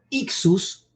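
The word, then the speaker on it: ἰχθύς: El pez como elemento simbólico que en griego se pronuncia ixus, ese ixus tiene todas las letras de una frase que implica Jesús Rey, Jesús Hijo de Dios Rey, ¿no?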